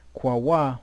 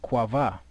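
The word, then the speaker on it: קָוָה: And what do you have here? Kwawa. But what do they have for the pronunciation? Kwava. You know, so sometimes they get close, but they throw that V in there, you know, and certain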